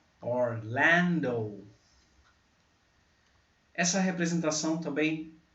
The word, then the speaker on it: Orlando: Orlando. Ó, como o O no alfabeto. O. Ó, Orlando. A sílaba forte está aqui, ó, no L. Orlando.